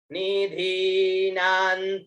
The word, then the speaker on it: निधीनां: प्रियाणां त्वा प्रियपतिर्गुं हवामहे निधीनां त्वा निधिपतिर्गुं हवामहे वसो मम आहमजानि गर्भधमा त्वमजासि गर्भधम्मा। बहुत सुंदर। एक यहाँ पर आप देखिए, निधि नान्त्वा नहीं है, निधिपति तो आगे है, ये धी दीर्घ है ना।